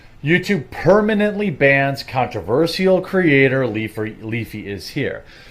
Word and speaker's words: Leafy: YouTube permanently bans controversial creator Leafy is here. Couldn't even get his name right. Leafer. Who is Leafer?